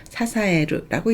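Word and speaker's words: 支える: 사사에르라고 읽습니다.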